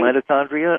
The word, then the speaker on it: mitochondria: Mitochondria? Did I pronounce that right? Mitochondria, yes.